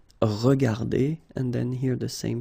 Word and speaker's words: regardées: Remember that we don't pronounce them, so you will get phonetically regarder, and then here the same form, regarder. Okay, so you don't pronounce anything after your e, but still you should write them if you want to write correctly.